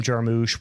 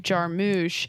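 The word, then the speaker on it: Jarmusch: exactly so yeah this just was unabashedly Jim jarmouche with the dialogue and the weird pauses and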